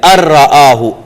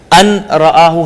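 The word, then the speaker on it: أن رآه: लफ्ज बन गया है और नून हम इसका तलफ्फुज ही नहीं कर रहे यह साइलेंट हो गया अराहु अराहु अन राहु हम नहीं कहेंगे अराहु सतना अराहु सतना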